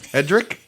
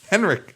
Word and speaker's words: Henrik: Hedrick? Hendrik. Henrik.